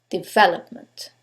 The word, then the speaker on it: development: the last syllable development in this case is the second syllable development now you couldn't know